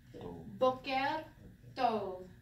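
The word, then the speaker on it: בוקר טוב: Okay, so bet, o, right? Bo, boker, boker, boker, and you already learned this last week. Tov, right? Not tov, tov. Boker, tov. Don't let me hear no broken toe, because I will break a toe. Okay, boker, tov.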